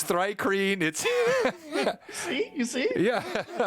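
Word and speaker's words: thri-kreen: say Uric um no it's it's rikus it's thry cream see you see it yeah yeah come on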